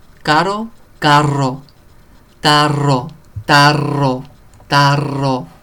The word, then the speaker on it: tarro: So be careful with your R's. Caro, carro. Tarro, tarro, tarro.